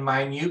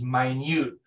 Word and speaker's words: minute: enough DNA from even minute please note this is minute which means very small not minute it's spelled the same pronounced differently minute amounts of blood